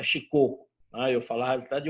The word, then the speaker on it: Shikoku: Que me colocou a pronúncia que é Shikoku.